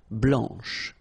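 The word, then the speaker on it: blanche: and then blanch okay remember when you combine this C you get the sound sh blanch okay so BL blanch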